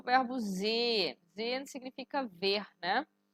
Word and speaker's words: sehen: a pronúncia, por exemplo, pronúncia de sehen, todo mundo gosta de falar sehen, falando esse H, e aí a pronúncia vai te ensinar que esse H é mudo, você vai falar sehen.